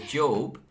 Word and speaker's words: Job: You pronounce it differently. Job, as in the biblical character Job.